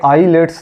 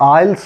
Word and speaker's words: IELTS: हैं आईलेट्स बोलते हैं यह आईलेट्स नहीं होता my dear students my friends यह आइल्स होता है टी इसमें साइलेंट रहता है टी क्या रहता है